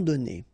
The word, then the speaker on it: donnés: Okay, so the good news is that you don't pronounce it. So donner, okay, so whether it would be without this final es or with es, you will pronounce it the same way.